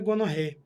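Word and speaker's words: gonorrhoeae: bactéria chamada de minissérie a Gonorreia se escreve gonorreae mas se fala gonorreia misseria gonorreia o que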